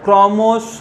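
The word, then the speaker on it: ক্রমশঃ: অর্থাৎ শব্দের শেষে থাকলে, ক্রমশ শব্দের শেষে বিসর্গ আছে তাই ক্রমশ উচ্চারণ হবে।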